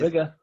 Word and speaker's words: Biggar: BI, so it's spelt Biggar, and it's a little Bigger.